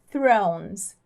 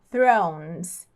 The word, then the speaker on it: Thrones: vem logo em seguida Então você tem que colocar língua para fora e depois lá para trás para falar o r enrolado aí fica Thrones Thrones thrown Não tem problema